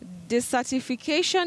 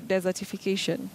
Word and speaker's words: desertification: spell it out d-e-s-e-r-t-i-f-i-c-a-t-i-o-n this certification is that correct this certification or desertification desertification okay desertification just like that desert that is the process